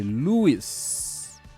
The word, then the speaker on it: Louis: Yeah, the S in the end is pronounced. Okay, Louis, thank you very much for that.